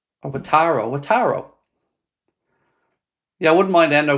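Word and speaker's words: Wataru: Watro or Wataro. Wataro.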